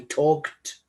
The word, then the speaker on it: talked: Los verbos regulares toman su forma del pasado simplemente agregando ed, aunque esta ed no se pronuncia ed. Aquí se pronuncia como una T, talked, talked.